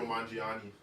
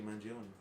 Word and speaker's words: Mangione: Mario Mangiani. Yes, bro. Mangione. Mangione. How about you say his name? Luigi Mangione.